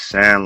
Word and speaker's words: Tsan: My name is TSAN, like sand at the beach, but it's no D on it. The D is silent. Well, it's not silent. There is no D.